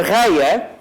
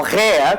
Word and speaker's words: Rea: a mulher de Saturno, que era reia ou rea, consoante a pronúncia que refiram, escreve-se R e a rea, em vez de lhe